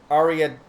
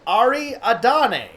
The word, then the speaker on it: Ariadne: But like, how do you pronounce that? Written A-D-N-E. I want to, like, my brain wants to add an A.